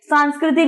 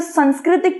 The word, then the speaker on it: सांस्कृतिक: अलग-अलग परिवर्तन हुए हैं बहुत से लोग इसे संस्कृतिक कहते हैं लेकिन इसका सही उच्चारण सांस्कृतिक होगा ठीक है सांस्कृतिक लोगों